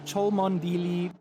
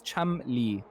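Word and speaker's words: Cholmondeley: And our pole sitter, our leader at the moment, who we have called Cholmondili, Chomondele to all these, it's Chamli, guys. Chamli is the way that we pronounce this name.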